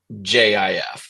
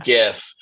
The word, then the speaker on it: GIF: and second of all it's gra graphic interchange format the word graphic is a g hard g g i don't know if that's a hard g whatever it is it's a g sound it's GIF go